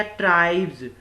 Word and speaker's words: tribes: तो ये बन गया ट्राइब्स। ट्राइब्स होता है जातियां, ठीक है। तो इसका हम प्रोनाउंसिएशन S का कैसे करेंगे, ज के रूप में करेंगे।